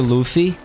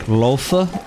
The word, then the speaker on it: Luffy: he referenced the character Luffy but he pronounced his name like loafa or something or some [